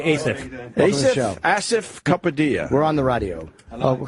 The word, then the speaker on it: Asif Kapadia: Asif Kapadia. Asif Kapadia. I'm going to go with that. Is that? No, it's Asif.